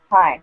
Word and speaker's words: Tyne: It's not Tiny, it's Tyne from Ava's mom.